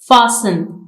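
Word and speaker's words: fasten: फासन, इसमें T silent है।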